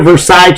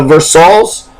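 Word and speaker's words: Versailles: vers versailes you know we signed a versailes treaty we were War but it's a versals that's what we call we call versals here louville uh lville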